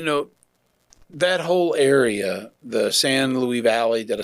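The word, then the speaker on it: San Luis: So, you know, that whole area, the San Louis Valley, did I say it right?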